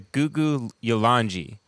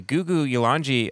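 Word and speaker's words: Gugu Yalanji: So the remember how he told us the K's are pronounced with a G? So I looked this up. They're the Gugu Yolanji.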